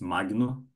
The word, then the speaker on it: Magno: The Italian pronunciation is Magno.